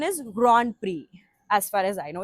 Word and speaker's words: Grand Prix: Now he wrote a word GRAND PRIX. How do we pronounce this?